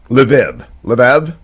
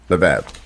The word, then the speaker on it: Lviv: Lviv.